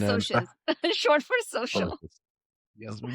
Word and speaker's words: Socs: Can I correct you? Sorry, Soches. It is It's Soches. It's short for socials.